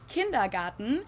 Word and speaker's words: Kindergarten: In German, we pronounce it Kindergarten, and it literally means children's garden.